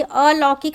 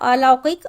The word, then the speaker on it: अलौकिक: उच्चारण इसका होना चाहिए अन लौकिक नहीं होता है अलौकिक और इंदर नहीं इंद्र